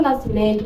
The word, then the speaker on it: nascimento: A palavra nascimento tem 10 letras e apenas 8 fonemas. Não se pronuncia o S. E o E e o N, eles têm um único som.